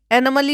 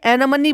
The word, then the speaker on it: anomaly: और स्कैन का नाम भी गलत बोल रही है भाई, एनोमली होता है, एनोमली, और ये एनोमनी बोल रही है जिसकी स्पेलिंग है ANOMALY।